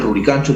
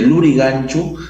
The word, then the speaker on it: Lurigancho: dos formas dialectales diferentes ruricancho se puede decir es un quechua más cusqueño de la Sierra tal como pronunciaban los incas mientras que lurig anchu provendría de la misma